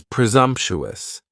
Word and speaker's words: presumptuous: Next is presumptuous. And presumptuous has four syllables. And the stress is on that second syllable. And the s almost sounds a little more like a z.